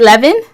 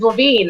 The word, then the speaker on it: Levin: It depends where you're from, how you say it. I get it from up north, and when I first got married, it was Levine, and so understand.